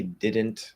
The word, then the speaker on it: didn't: here i mean it's when we say didn't that first syllable is stressed um within the the context of the word so you would think well it's supposed to be right like you you can't flap the d usually it's at the start of a stressed syllable it's kind of the